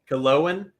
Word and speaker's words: Killowen: Killowen.